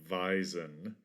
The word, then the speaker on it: wisen: was a an old an ancient archaic german word wisen which i'm guessing was probably pronounced something like veisen and it meant shrivel